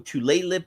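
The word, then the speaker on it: Tlingit: use of jewels vaping products became rampant among tle lip somebody corrected uh Janine corrected my pronunciation earlier among tle lip tribal youth with the uh percentage of 12th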